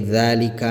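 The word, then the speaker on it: ذٰلِكَ: Seperti dzalika misalnya di sini ditandai dengan harokat fathah panjang yang kecil ini ya, yang saya lingkari ini. Maka ini dibaca panjang dua harokat.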